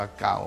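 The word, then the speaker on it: 高: รูป ภาษา จีิง เ จะ อ่าน ว่า เกา แปล ว่า สูง เก่า เก่า แปล ว่า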